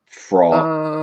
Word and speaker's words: Frau: I assume you mean Fra. That's how they Uh, spell it. I assume in a shower Frau. scene of some sort. It's FRAU, which No, I know that, but they're spelling it FRAW. Are they? In Why? the sub, they are. Huh. Anyway, I guess that would be Fra. Yeah, it's Fra or Frau.